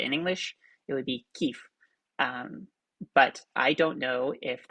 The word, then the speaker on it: Kiev: name of the city in english for some reason they emphasize the v at the end so kiev that is more like